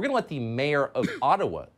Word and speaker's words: Ottawa: let the mayor of ottawa or atawa as it's correctly pronounced in a gibber explain why peaceful truck